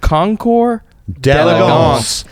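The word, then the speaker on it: concours d'élégance: Concours. D'Elegance. Concours. Not Concours. Not d'elegance. Concours d'elegance. It's French.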